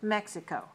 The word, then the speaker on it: Mexico: goes to mexico so mexico is three syllables stressed on the first mexico okay so the next